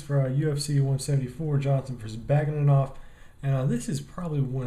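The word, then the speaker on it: Bagautinov: Alright, y'all, time to do my picks for UFC 174, Johnson versus Baugitinov.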